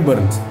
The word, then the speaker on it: Byrne: Namanya tulisannya B-Y-R-N-E, dibacanya Burn.